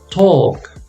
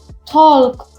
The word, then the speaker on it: talk: you have one l remember the l is silent we do not pronounce the l so for example we